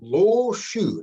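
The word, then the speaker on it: Lo Shu: a very famous one this is called the low shoe now that's spelled l o hyphen s h u and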